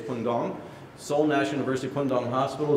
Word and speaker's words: Bundang: seven that's actually pronounced it looks like bundang it's pong Soul National University pong